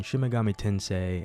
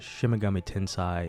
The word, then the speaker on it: Shin Megami Tensei: beg for forgiveness for pronouncing shimagami tensei as shimagami tinsai in part one but for real I don't know why I thought it was pronounced that way but I'm not gonna